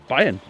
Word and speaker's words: Bayern: Bavaria in German? Bayern.